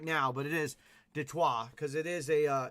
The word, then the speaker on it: Detroit: this up too so detroit is actually a french word so it's actually supposed to be pronounced de choir so it is the detroit uh lions right so detroit we obviously all say detroit now but it is